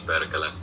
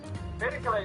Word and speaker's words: Perkele: Perkele is pronounced like you were in a wild amusement park.